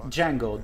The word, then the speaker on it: Django: Like Django, the D silent.